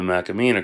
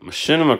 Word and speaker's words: Machinima: Or, as I used to call it, the Macamina Chronicles. And then I was corrected on that, because I pronounce it how it looks to me.